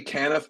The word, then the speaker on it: Canaff: I say Can Knife, but there's a whole arm of my family that says Canaf, so both are correct.